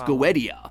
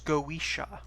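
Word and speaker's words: Goetia: boss and you know we prefer to be pronounced the Irish goisha actually especially when you're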